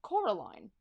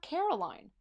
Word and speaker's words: Coraline: They kept saying Coraline, not Caroline. Not Caroline at all.